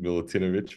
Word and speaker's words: Milutinovic: as a digital noad with my guest Milan milutinovic Milan welcome to the show how you doing Becca you did well in the last name congratulations milutinovic very well pronounced appreciated thank you so much we're gonna